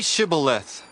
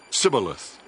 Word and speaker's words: Shibboleth: If he replied, "No," they said, "All right, say Shibboleth." If he said, "Sibboleth," because he could not pronounce the word correctly, they seized him and killed him at the fords of the Jordan.